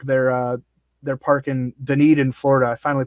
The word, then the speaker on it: Dunedin: hitter friendly ballpark they're uh they're parked in dunedin florida i finally pronounced it right yeah and then i i